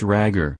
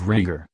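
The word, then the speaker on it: Rhaegar: an an alment for a prince ragger an apparent mispronunciation of rager and remarried him to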